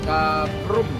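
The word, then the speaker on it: Ta Prohm: Everybody pronounce it Da Prum.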